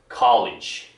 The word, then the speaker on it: college: college 어디가 올라가요? college 할 때 위가 올라가죠. college 그쵸? 그러니까 college가 아니죠. college예요.